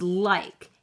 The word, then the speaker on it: like: And the E is silent. Shh. It doesn't make any noise.